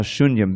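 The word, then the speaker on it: शून्य: So, Anya abhilashita shunyam, being shunya, that's a long U by the way, completely devoid of any other desire.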